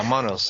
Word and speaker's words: monos: pronunciation here, John, is these little dolls, or monos, Monos? Yeah, I think you're right. I actually have never heard it pronounced myself, but you've done very well with all the Spanish terms. High marks. But yeah, monos. I think, yeah, you said it right, monos.